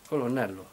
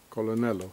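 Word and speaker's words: colonnello: say this in Italian a Col colon Colonel colonello colonello colon colon so what what do you what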